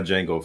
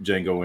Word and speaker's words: Jango: They're spelled differently, but pronounced the same.